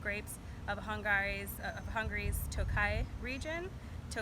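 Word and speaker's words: Tokaji: of Hungary's of Hungary's Tokai region - Kies tio kha so so gosh you might think it's pronounced took I have a Hungarian co-worker who informed me so Tokai 2015 from Hungary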